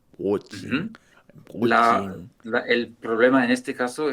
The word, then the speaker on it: Brötchen: Es como ajá, más brotchen, brotchen. ujú. Brötchen.